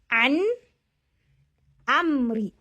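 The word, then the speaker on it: عن أمري: Say it just the way it is. So you say an amri, an amri, an amri.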